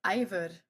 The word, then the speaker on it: Eivør: I mean um you know you touring with and I always say this name wrong is Ivor. I Yes. Ivor. Ivor you know the weird exactly it's the O with the line through that gets everyone like I